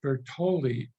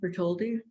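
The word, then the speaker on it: Bartholdi: right is that the house of Bertolli did I can't quite say it right say it right bertoldi who is the person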